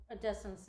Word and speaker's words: Odessa: Americans say Odessa, but I've been told that native Odessans say Odessa. Although we have a disagreement about that.